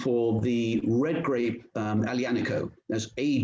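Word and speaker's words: Aglianico: the red grape um alianico that's a g l i n i c o but you don't pronoun basically you don't pronounce the g alianiko and i can skip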